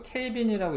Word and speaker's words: 켈빈: 0켈빈, 이거 켈빈이라고 읽으시면 됩니다. 켈빈.